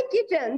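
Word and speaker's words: kitchen: इसके बाद है किचन, जब हम किचन बोलते हैं तो टी जो है टी साइलेंट रहता है, इसी तरीके से आप टी के नीचे अंडरलाइन करोगे।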